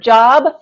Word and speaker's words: Job: Here we go, Job. Remember, it's spelled like the word job, but because it's a name, it's pronounced Job.